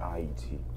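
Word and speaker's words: Ayiti: And it's pronounced I-E-T. Haiti was the name that the colonizers gave us.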